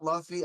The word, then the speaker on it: Luffy: Yeah, I know it's Luffy. I just said No, it you just said wrong. Luffy. Now you've done the thing that I told you was a Luffy. mispronunciation. It's Luffy, right?